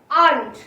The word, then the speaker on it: aren't: Next আর not contraction তৈরি করার পর আর নট এর সাউন্ড আসে, এর প্রোনাউন্সিয়েশন আসে আন্ট, আন্ট। ওকে, আর এর উচ্চারণ থাকছে না এখানে।